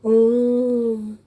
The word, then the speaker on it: ओम: अब ओम को लिखना, अब इसका उच्चारण हम कैसे करते हैं? यहाँ पर ओ जो स्वर है वो दुगुना तिगुना होता जाता है, उस स्वर की जो है वो बार बार उसकी आवृत्ति होती है।